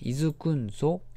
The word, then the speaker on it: 安んぞ: おいてください栄光読み方まずねいずくんぞ 4 組の颯々